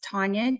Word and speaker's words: Tanja: so oh yeah so my name is spelled the Estonian way which is my mother's background so it's Tanya t-a-n-j-a and then